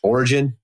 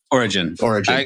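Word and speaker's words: Origen: I think it's Origin or Oregon. Origin. Is that right? Origin. I say Origin. Otherwise, It just sounds like a state. But they put up a quote by Origin because it fits their sermon.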